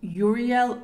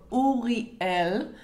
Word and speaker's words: Uriel: the stories better okay we're starting with angel Uriel or only L okay I speak Hebrew I grew up most of my life in Israel so I know how to say these names correctly Oh al means the